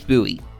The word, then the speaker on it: Bowie: So, the Bowie knife, and yes, it is pronounced Bowie, not Bowie, is a knife named